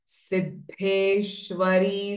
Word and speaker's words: सिद्धेश्वरी: विद्या सिद्ध माता यशस्विनी so this ध साउंड द एंड ध अल्पप्राण एंड महाप्राण R join together सिद्धेश्वरी सिद्ध विद्या सिद्ध